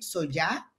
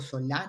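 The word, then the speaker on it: Solà: También queremos darle la bienvenida a Irene Solá, o Solá, no estoy clara cómo se pronuncia, perdón, Irene. Solar. Solá, perfecto.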